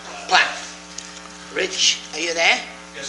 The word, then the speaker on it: Platt: Platt. Platt.